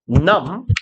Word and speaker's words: numb: 이렇게 말하는 행위는 not은 numb, B는 묵음입니다.